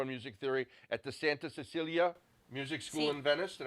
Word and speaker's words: Santa Cecilia: Giada honed her skills studying piano and music theory at the Santa Cecilia Music School in Venice.